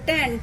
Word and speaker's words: tan: এবং তোমরা উচ্চারণও করবে টেন থিটা, কিন্তু এটা একদম ভুল হবে ট্যান, TAN। আর এই কট হয়ে যাবে ক্যাট। ঠিক আছে, তো এটা যেন ক্যাটও না হয় আর ওটা যেন টেনও না হয়।